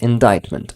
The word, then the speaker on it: indictment: So it's not, C is not pronounced. Indictment.